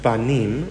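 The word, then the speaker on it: בנים: We also have the word Banim, Bet, Nun, Yod, Mem, and we know it is pronounced Banim, which means sons.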